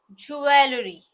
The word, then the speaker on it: jewelry: see the next word jewelry most most commonly mispronounced word so it is supposed to be jewelry shry let's see the next